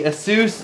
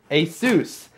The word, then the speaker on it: Asus: This is the Asus G750 JH, the DB71.